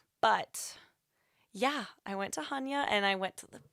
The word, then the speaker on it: Chania: told the taxi driver I want to go to Chania, and they were like, you mean Hanya? So definitely before you go to a place, just make sure you know how to pronounce the name of the town you're going to.